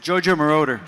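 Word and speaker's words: Giorgio Moroder: to know who Mar is that who you pronounce his name yeah JoJo maroder yeah just to give you an idea he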